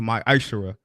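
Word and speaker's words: מעשר: Means tenth in the Hebrew, and it's pronounced my Ishara.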